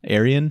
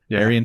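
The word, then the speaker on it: Aerion: runs into Aryan Targaryen is that how you say it a e r i o n Aryan probably Aran Targaryen that's kind of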